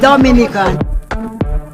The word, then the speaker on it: Dominica: back okay boom we call it dominica yes the nature i love the caribbean it's rum punch time oh we call it dominican it is spelled d-o-m-i-n-i-c-a it is not dominican republic it